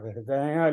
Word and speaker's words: हृदय: हृदय लिखा है तब उसको हृदय ही पढ़ें, क्योंकि उस पर चंद्रबिंदु यानी अनुनासिक उच्चारण है उसका।